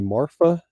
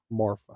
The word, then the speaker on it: Marfa: That is the Hotel Paisano in lovely Marfa, Texas. Marfa.